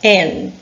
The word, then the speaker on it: an: When the noun starts with a vowel, we add an N to the letter A and pronounce N.